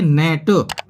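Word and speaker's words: gnat: से स्टार्ट है फ्रेंड्स, और हमने बताया भी कि एन से पहले यदि जी आ रही है तो भी अपना वो जी साइलेंट ही रहेगी, इसलिए हम इसको बोलेंगे नेट।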